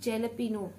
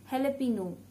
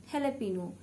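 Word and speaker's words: jalapeño: Number eighth, jalapeno, not jalapeno. This is a very common mistake. So the right pronunciation is jalapeno, jalapeno.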